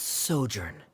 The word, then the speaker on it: sojourn: Director Zosimos, how do you pronounce this word? Let me see. That's sojourn.